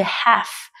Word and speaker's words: half: lưu ý cho m cái từ khó ở đây đó là từ half nó chỉ gồm có ba âm thôi và cái âm ấy là âm câm đó là half agent